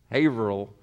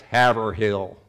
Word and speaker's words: Haverhill: they say it haverhill Averill but in Detroit it was haverhill same exact street one place pronounce the h and the other one kind of dropped the h you know they like